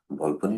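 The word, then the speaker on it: Volpone: নাটকটির নাম হচ্ছে ভলপনে। ভলপনে, অনেকে ভলপন, ভলপনি ইত্যাদি ইত্যাদি বলে, সঠিক উচ্চারণটা হবে ভলপনে। এই নাটকটার রাইটার হচ্ছে বেন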